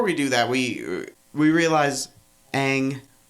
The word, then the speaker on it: Aang: Right, but before we do that, we realize Aang, or as M. Night Shyamalan pronounces it, Ong, has what?